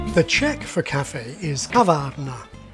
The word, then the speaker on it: kavárna: The Czech for cafe is kavárna, and like almost all Czech words, it's stressed on the first syllable. So the acute accent indicates not stress, but vowel length, kavárna.